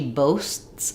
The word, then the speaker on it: boasts: I am kind of making that T in that my air is stopping. So I have boasts, and then the air stops for the T, and then I say the next S. So she boasts about it, boasts about it. I'm not doing boasts, boasts. The T is not aspirated, it's not really audible, but there's a stop there, boasts. For these kinds of practices,